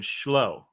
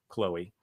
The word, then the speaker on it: Chloe: was getting it, and I said Shlo. The girl's name was Shlo. Chloe. And she could not have been more dissatisfied with my pronunciation of her name, which was, of course, actually Chloe.